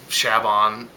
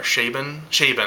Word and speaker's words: Chabon: I mean, it was co-written by Michael Chabon, or Chabon, I think is how you say his name, who is, he's a Pulitzer Prize winner, guys.